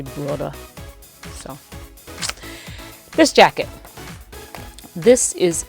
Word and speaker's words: Burda: I took German in college, so I like to try to pronounce German words with a German accent. So we say Berta. I think they say Burda.